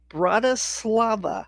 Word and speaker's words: Bratislava: it's BTS, which is the airport code for Bratislava.